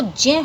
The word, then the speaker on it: ज्ञ: और ये इसको ज्ञ, ज्ञानी बोलते हैं, जबकि इसका जो शुद्ध उच्चारण है वो जय होना चाहिए, जय, क्योंकि जय और य से मिल करके बनता है।